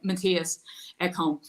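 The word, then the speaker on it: Mattias Ekholm: Sorry, Matthias Ekholm.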